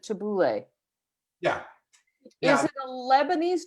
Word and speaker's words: tabbouleh: make tabbouleh and so i'm pronouncing it tabouli but you pronounce it tabouleh yeah is it a